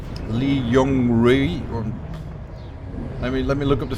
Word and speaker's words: Li Yong Rui: I never know how to pronounce that one. Better than any attempt I made. It's Li Yong Rui.